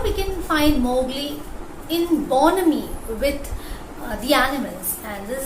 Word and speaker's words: bonhomie: Human-animal bonhomie. That is, H is silent in the word bonhomie.